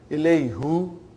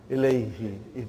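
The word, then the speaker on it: إليه: Ilayhu. It takes extra effort. And even also, it doesn't sound nice to the ear. So, hu became now pronounced ilayhi.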